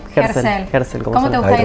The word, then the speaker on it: Gerzel: Germán, contame, Herzl, ¿cómo se pronuncia tu apellido? Ah, sí, Herzl.